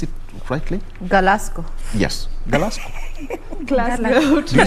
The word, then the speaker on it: Glasgow: Did I pronounce it rightly? Glasgow.